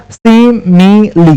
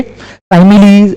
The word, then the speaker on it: simile: Pronunciation होता है इसका सिमिली, सिमिली क्या प्रोनाउंसिएशन होता है इसका? सिमिली। ओके साइमिली और कुछ नहीं बोलेंगे, इसको सिमिली बोलेंगे।